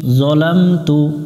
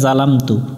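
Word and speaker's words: ظَلَمْتُ: আল্লাহুম্মা ইন্নী যালামতু, এই অক্ষরটাতে জবরে আকার পড়া যাবে না, যা পড়া যাবে না। এখানে অনেকজনে উচ্চারণ করে জালামতু, জালামতু পড়া যাবে না।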